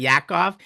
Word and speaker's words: Yaakov: I'm not kidding, but he actually pronounces her name perfectly. Doesn't he, Kayla? I mean, Yeah, Yaakov.